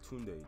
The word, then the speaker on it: Tunde: bro tunde how do you say his name tunde tunde oh who is he bro like who is